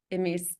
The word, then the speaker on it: Misael: Is it Emis? I don't know how to say his first name, but Jaramillo is his last name. And Misael Jaramillo, yeah.